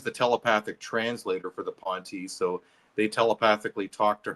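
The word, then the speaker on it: P'nti: I've been calling them the Pontiel, but you call them the Ponti, right? Is that how to pronounce it?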